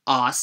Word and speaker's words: arse: spell it arse, because British people do drop the r's in words a lot. That's what makes English English a non-rhotic accent. They say cot instead of cart, potty instead of party, and, naturally, oss instead of arse.